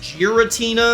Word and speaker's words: Giratina: Pokémon so this is gutina but it would be pronounced Giratina because it's a Steel type giraffe Pokémon that has a very weathered appearance so it gets its name from giraffe and patina with patina being the